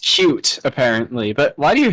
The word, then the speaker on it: Qt: Wait, did you say QT? Yes. Quick trip in that graphic. That graphics library that I hate. Oh, you What's wrong with It's pronounced cute apparently.